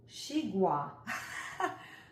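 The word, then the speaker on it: xigua: The glossary is going to tell me how to pronounce this fruit. It's a shigua.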